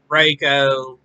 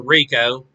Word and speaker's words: Reiko: And then it went to the lesser known, such as Natara, Reiko, or Rico, depending on who you ask on how to pronounce it.